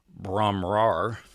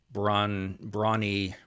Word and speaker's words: Bron-Yr-Aur: songs, and that was in a place called Bron-Yr-Aur. It's that's close. I think Bron-Yr-Aur. I've heard some Welshmen say Bron-Yr-Aur.